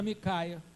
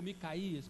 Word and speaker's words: Micaías: Acabe ele não quis dar ouvido às orientações do profeta Micaia, ou Micaías, quem quiser, depende da produção, da pronúncia.